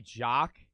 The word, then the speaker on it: Jacques: That would just be Jacques.